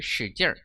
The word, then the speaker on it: 使劲: 使劲, 힘을 쓰다, 힘을 쓰다. 용리의 서면어로 使劲. 이 찌는 jin 사성인데 얼화시키면 발음 사라지고 使劲 해볼까요? 使劲 이렇게 읽어요. 使劲.